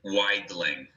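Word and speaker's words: Weidling: teasing but it's yeah it's widely like like wide and then ling yeah it's it's german you pronounce the the uh the e and the i opposite okay apologies for that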